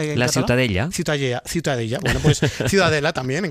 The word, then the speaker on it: Ciutadella: bueno, para mí la ciudadela es, ¿cómo se pronuncia en Cat? Ciudad Ciudadella.